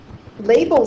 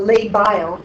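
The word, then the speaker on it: labile: in other words um label cells or labo actually is a better way to pronounce it are highly proliferative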